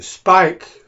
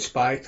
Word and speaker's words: Speick: I just call it Spike I know everybody says it's kind of pronounced like that Spike but I use both